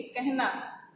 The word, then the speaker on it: कहना: ठीक है, राह, स्नेह, ह के पहले आने वाले अ का ए जैसा उच्चारण होता है, लेकिन लिखते समय वो ए नहीं होता है। जैसे देखो उदाहरण के लिए कहना, आपको उच्चारण में सुनाई